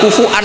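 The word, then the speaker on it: كفوا: Maka sebagian qiraah rata-rata qur sabah itu bacanya walam yakullahu kufuan masih pakai hamzah karena ini maknane mukafaah kafaah yang baca kufuan diganti wawu hamzah diganti wawu itu minoritas termasuk qiraah kita Imam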